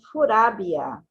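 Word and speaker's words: フラビア: And in Japanese it's Furabia. Not L and not V. Yeah, And then you exchange the L for U and the V for B. for B, Furabia.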